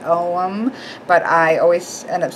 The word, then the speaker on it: Ogham: ohm or the ogum it looks like ogum but it's pronounced ohm but I always end up saying Ogham because you just I